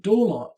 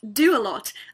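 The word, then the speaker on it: Doalot: here your last name is it pronounced dolot no no no no it's do a lot as in our family does a lot my father owns many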